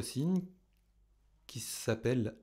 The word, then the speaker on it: ℵ0: ℵ0 و الف صفر تلفظ می شود).